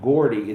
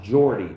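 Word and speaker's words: Geordie: It's not pronounced Gordy. It's pronounced Jordy.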